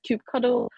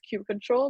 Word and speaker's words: kubectl: Roman said some people pronounce kube control as kubectl or kubectl. So I saw online saying that the correct term is kube control, but hey, who's to say what's absolutely wrong, right?